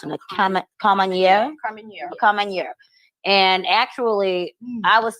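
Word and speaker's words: Carménère: How do you pronounce it? Carmenere? Carmenere.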